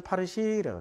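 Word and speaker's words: فارسی: 그때 이란 사람들하고 얘기하면 자기네들은 파르시라고 그래. 파르샤, 여자들은 파르시. 자기네들은 파르시라고 그래, 파르시. 그러니까, 아니, 페르시아는 언어가 뭔데? 그럼 파르시, 이래. 페르시아 사람은 뭔데? 파르시. 그러니까 파르시예요.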